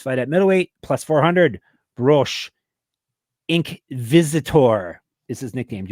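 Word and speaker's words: Brož: Do you want me to tell you Broz. that you said his name wrong? Broz. Is that better? It's Broz.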